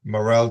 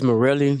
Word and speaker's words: Morel: Is your name uh Morel Julian? I pronounce it as Morelli, but Yes, sir.